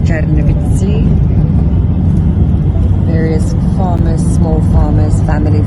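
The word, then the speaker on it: Чернівці: This is the town of Chernovitz, or locally pronounced Chernovitsi.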